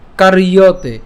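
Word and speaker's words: কার্যতে: এরপর কারিয়তে, ওই যে কার রেফটা উচ্চারণ আগে করে ফেলবো, আর জফলার যেহেতু অন্ত্যেস্তজ আছে তার উচ্চারণটা ইয়র মতো হবে, তাহলে ইয়তে হিয়বশঃ কর্ম সর্ব প্রকৃতি জয়ের গুণই।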